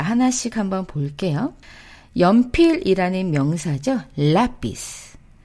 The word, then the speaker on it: lápiz: 자, 이 라피스에는요, lápiz. 아센토가 찍힙니다. 원래는 지금 세타, 즉 Z로 끝나서 맨 뒤에서 첫 번째의 모음은 I겠죠. 그쵸? 자, 그래서 원래는 읽을 때 아센토를 찍지 않았더라면 lápiz 이렇게 되겠죠? 그런데 어때요? 아센토를 찍었어요. 이거는 예외적으로 아센토를 찍어서 뒤에서 두 번째로 올릴게요 라는 표현으로 lápiz 그리고 아에 아센토가 찍힌 거 보이시죠?